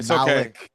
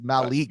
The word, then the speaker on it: Malik: the whole time I've been calling you Malik and it's Malik you know georgean bav